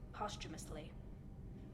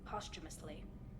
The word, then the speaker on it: posthumously: No, she was pardoned, posthumously. Posthumously? Prove my innocence that way. Yeah, I've been pronouncing it as posthumously. Yeah. Posthumously. Posthumously. The H is silent, I guess.